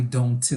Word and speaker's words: don't: Nós não vamos pronunciar esse T aqui, ó. Então, você não vai falar I don't live.